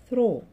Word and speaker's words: through: كلمة throw من خلال أو عبرة هتبقى throw. THROUGH. والجي اتش مش هننطقها.